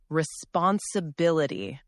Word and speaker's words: responsibility: responsibility responsibility Good. This word has five parts, five syllables. The stress is on B.